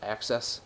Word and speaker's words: AXS: which is um uh it's actually spelled AXS but it's supposed to be pronounced access television it used to be